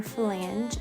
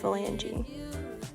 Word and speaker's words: flange: So grab your flange and a closed nipple. So I'm an idiot and I thought this is pronounced phalange. Flange. It's not.